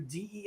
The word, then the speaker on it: DEI: getting U.S military through Dei I think it's pronounced Daya by the way something I learned last night on Tim Poole Dia means of God in a certain language just remember that oh